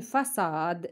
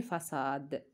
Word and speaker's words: façade: une cerise c'est une façade C cdelle parce que devant a se prononce c devant a se prononce que alors il faut mettre c c une façade pour se prononcer ce des pièces c'est